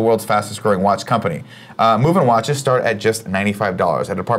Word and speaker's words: MVMT: you by movement watches movement MV MT pronounced movement was founded on the